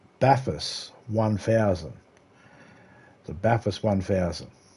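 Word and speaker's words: Bathurst: It's pronounced Baffus 1000.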